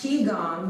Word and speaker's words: Qigong: in the transition between poses and this one pronounced chi gong movement focuses on flow of the life energy